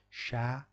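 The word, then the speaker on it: chat: Sher Sher dear darling sha T is not pronounced at the end of the this at the end of the words sha means uh cat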